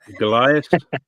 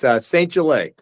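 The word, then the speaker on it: St. Gelais: You said it wrong. Goliath? That's okay. Everybody gets it wrong. It's St.Gelais. Gelais. Nice to meet you, though.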